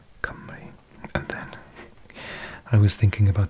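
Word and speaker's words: Cymru: a bit bizarre but the letter U particularly in South Wales where I'm from is pronounced like an e which is the exact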